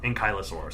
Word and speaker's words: ankylosaurus: saying I'm sorry how do you say it ankylosaurus ankylosaurus or anosa orus is how some people say anaus I think I've heard that before yeah I like to say it like ankylosaurus propa yes indeed uh yeah for some reason